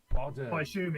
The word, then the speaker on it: Bodom: Children of Bodom so Bodom Bodom is how it's pronounced as in Sodom you know yeah yeah yeah no I I like botom yeah yeah and I